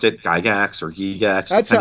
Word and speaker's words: Gygax: how to pronounce the name right so I pronounced it guy gaxx or he yes that's it I've always said Gygax but the people that are seeing Gygax were